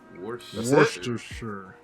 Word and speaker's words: Worcestershire: know what it you know what the correct pronunciation of the word is know what's the sure Worcestershire that's it what's the shirt you forgot the